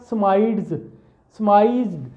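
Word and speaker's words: surmised: पे आई, आई स्माइड्स, आर तो साइलेंट नहीं बोला जाएगा, स्माइज्ड, आई स्माइज्ड, यहाँ आई फर्स्ट स्माइज्ड, मैंने पहली दफ़ा देखा।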